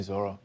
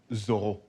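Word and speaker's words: Zoreaux: Thank you, Zorro. It's actually pronounced Zorro. Zorro. Why? Because that's how my parents say it, I guess.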